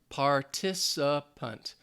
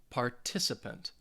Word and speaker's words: participant: it's a noun and it is four syllables participant and the stress is going to be on that second syllable participant participant if you guys want